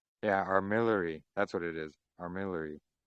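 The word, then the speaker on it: armillary: Armillery. That's what it is. Armillery. Thank you. Yeah. How do you spell that?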